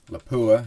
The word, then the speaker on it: Lapua: We can see we've got Berger, Hornady, Lafua, or Lapua, as it's pronounced in the U.S., and Sierra.